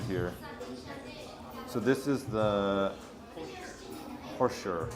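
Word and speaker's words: хуушуур: So this is the Hosher. Hosher. Oh, so it's H-U-U, but it's pronounced Ho.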